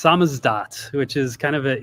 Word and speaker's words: SZDT: Uh, it's pronounced samazdat, which is kind of an inside joke.